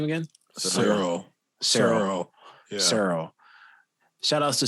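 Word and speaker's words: Ciryl: to gone now i was how do you pronounce his first name again cyril cyril cyril shout out to sarah gone um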